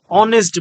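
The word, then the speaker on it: honest: এটা নির্দিষ্ট না এজন্য এখানে এ বসেছে হি ইজ এ অনেস্ট বয় এখন আমরা জানি ভাওয়েলের পূর্বে এন বসে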